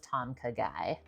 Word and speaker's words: Tom Kha Gai: food I will often order a bowl of Tom KY that's how you say it it's not spicy